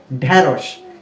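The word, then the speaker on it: ঢ্যাঁড়শ: ঢ্যা এরকম কেন করছি কেননা ঢেরস শব্দটার শুরুর বর্ণটা অর্থাৎ ঢ এর সাথেই কি রয়েছে জ ফলা আকার রয়েছে এজন্য এর উচ্চারণটা এর মত হচ্ছে বিধায় পুরো শব্দটা কেমন দাঁড়াচ্ছে ঢেরস ঢেরস ওকে এরপর রয়েছে মূর্ধন্য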